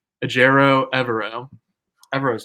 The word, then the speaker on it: Evero: with defensive coordinator um I looked up his pronunciation aerro evero evero is not too bad but yeah so